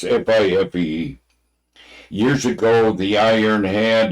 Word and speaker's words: Fife: If I'm pronouncing it right, it's Fife.